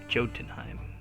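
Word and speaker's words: Jotunheim: live or juntenheim jodenheim i live near miami so i always pronounce the j and the crowd goes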